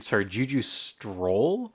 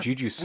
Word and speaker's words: Juju Stroll: So, speaking of mispronouncing things, also, we weren't aware that it was called Juju Stroll. So the ending credits things are called Juju Stroll. I've been calling them Juju Scroll.